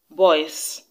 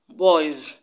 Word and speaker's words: boys: Now you should know that the S in boys should not be pronounced as s, boys, but as z, boys, because the sound preceding